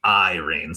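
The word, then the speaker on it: Eyerene: I had to look this up after, but the blob I mentioned before, her name is Irene, but it's spelled e y e r e n e, Irene.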